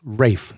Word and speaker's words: Ralph: If you say Ralph Fiennes, you're wrong. His name is Welsh. It's pronounced Rafe Fiennes.